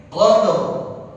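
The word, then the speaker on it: قدر: karena wa waqaf ya Jadi dibacanya gimana ya Qadr Qadr qadur ada rnya qadur qadur Qadr jadi seperti itu jadi bukan dibaca qad bukan cuma dibaca qad huruf untuk surah al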